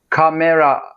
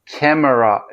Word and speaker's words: camera: Camera camera diye söylemiyoruz. Hızlı ve doğal haliyle yine iki heceli söyleyelim.